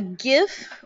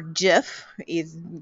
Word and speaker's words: GIF: Okay, a GIF or GIF can be pronounced either one, is small, but it's often not as good a quality as a JPEG.